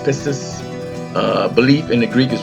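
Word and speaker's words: πίστις: Faith is in the Greek is pronounced pistis.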